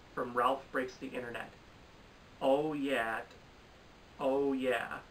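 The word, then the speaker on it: OYAHYTT: Ralph Breaks the Internet, Oh Yeah, I think that's how it's pronounced. It's spelled O-Y-A-H-Y-T-T, but like when I listened to the song, they were like, oh yeah, from Sorry to Bother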